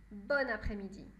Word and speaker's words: bonne après-midi: les deux sont possibles mais dans les deux cas on prononce bonne bonne après midi d'accord on peut aussi